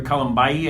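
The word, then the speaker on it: Kalambayi: He'll be out, and Peter Kalambai, I believe is how you pronounce it, he's a linebacker.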